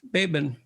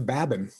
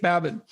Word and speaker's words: Babin: dichotomy of leadership with fellow retired seal leif baben did i pronounce that right it's actually leif babin oh so i didn't pronounce it right at all leif babin he hosts a weekly podcast with brazilian jiu